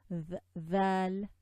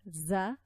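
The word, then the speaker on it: ظاء: Dha, this is not za. Okay, we don't want to confuse zay with dha. They're absolutely different characteristics.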